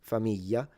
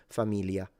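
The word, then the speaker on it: famiglia: So it's a Y familia. And in the north sometimes people simplify it into familia and it's basically just an L. Um it's up to you really. any of these would be acceptable at the end of the day.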